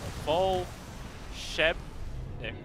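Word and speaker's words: Волшебник: So, pronounces Volshebnik. Volshebnik. As in Shebang.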